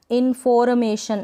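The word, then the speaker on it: information: अब यहाँ पर ये जो आर है ना, इन्फॉर्मेशन, ऐसे नहीं बोलेंगे इन्फॉर्मेशन, क्योंकि आर यहाँ पर आधा ही, हाफ ही प्रोनाउंस हो रहा है, मतलब इसका जो साउंड है थोड़ा ही आना चाहिए, इन्फॉर्मेशन।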